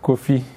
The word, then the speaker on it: Kofi: And then Kofi is Kofi.